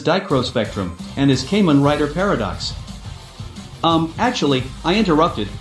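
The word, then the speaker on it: Para-DX: and as Kamen Rider Paradox. Actually, I interrupted, it's only pronounced that but it's really spelled Pra-DX.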